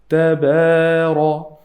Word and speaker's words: تبارك: The ta here is a light letter. I have to say tabara, and ra is heavy.